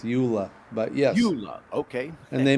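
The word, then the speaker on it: JOOLA: by this Jula agency it's the J is silent it's Ula but Yesa okay and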